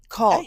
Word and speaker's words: caulk: You need to keep your tongue up when you're saying it to get the L.